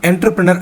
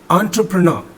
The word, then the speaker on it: entrepreneur: ஆக்சுவலாக என்டர்பிரனர் அப்படின்னு நான் சொன்னதே வந்து தப்பு தான். ஆக்சுவலாக என்ன அப்படின்னு கேட்டிங்கன்னா மறுபடியும் கேட்கலாம். ஆண்டர்பிரனர் அப்படிங்கிறது தான் அதனுடைய சரியான உச்சரிப்பு.